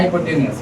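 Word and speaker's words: hypotenuse: हाइपोटेनस बोला जाता है। हाइपोटेनियस। ऐसे पढ़ा जाता है हाइपोटेनियस। हो सकता है स्पेलिंग एरर हो थोड़ा सा।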